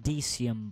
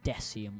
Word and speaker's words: Decium: It's pronounced Decium, by the way, not Decium or Dicum or whatever the fuck. Decium, like the Emperor, Decius.